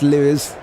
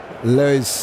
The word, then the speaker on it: Lois: But on 27, you're pronouncing his name wrong. Not Louis. Lois.